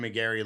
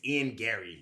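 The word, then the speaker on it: Ian Garry: it's his first lost you're saying his name wrong too now why he said McGary that's his name no it's it's Ian Gary st stop stop stop Ian Gary okay so obviously said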